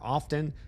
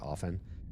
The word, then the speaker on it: often: And the the T in often is never pronounced apparently.